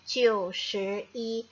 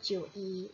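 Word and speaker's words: 九十一: jumlahnya adalah 91 maka sebaiknya kamu mengucapkannya menjadi chusei dan bukan Cui acios euy 91 Jadi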